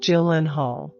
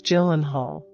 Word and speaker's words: Gyllenhaal: a great simple Melody the last name is pronounced Gyllenhaal it's spelled with two L's two A's we have a song in my family g-y-l-e-n-h-a-l spells Gyllenhaal it's a Swedish name it's a family heirloom